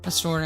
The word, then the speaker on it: Pastor: Like it's not ER because myself and Mr. Pastor pronounce it with the ER at the end. But it's actually supposed to be pastor. Like if you al pastor tacos.